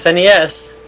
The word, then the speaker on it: SNES: do you say that i think it's nice yes okay thank you go ahead i can't say i've ever heard anybody call it that i've you know it's snes no i always call